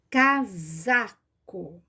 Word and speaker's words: casaco: Olha só, nós falamos cá z. Nós temos o som do Z, mas nós escrevemos com S. Aqui que está o segredinho. Casaco.